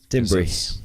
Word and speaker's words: timbre: Timbri, that one.